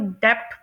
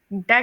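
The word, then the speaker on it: debt: उसके बाद हमारी जो सेवन्थ एग्जाम्पल है, इसे लोग डेप्थ प्रोनाउंस कर रहे होते हैं, लेकिन इसे यूके और यूएस में डेट प्रोनाउंस करते हैं। इसमें बी साइलेंट है।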